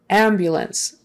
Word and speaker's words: ambulance: it's a noun and the stress is on the first syllable ambulance ambulance ambulance so that view that bu in the middle again there's a y in front of that ambulance um it's not ambulance often there's a kind